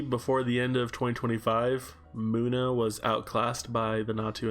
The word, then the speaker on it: Moana: Moana is a muna, not a mana, because apparently Pokemon names have pronunciations.